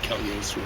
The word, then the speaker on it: Cagliostro: I don't know, I thought you said GL in Italian, I believe Cagliostro is it called. I believe you say it like LY, yes, something like that.